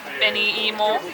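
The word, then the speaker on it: 紅芋: We hadn't seen the kanji for what we had ordered, so we asked the girl like how you pronounce it, and she said beni imo, and it could be sweet potato, I'm not sure.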